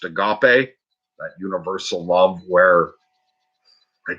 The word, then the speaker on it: agape: So I have developed that sort of, as it pronounced, agape, that universal love where I do truly care about people.